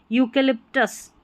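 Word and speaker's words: eucalyptus: तो इ यू है इ यू का उच्चारण यू होता है।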